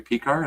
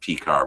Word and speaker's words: Piskor: Is it Piskor? I always said Pecker. I think they pronounce it Piskor, but I think you probably could say Pecker.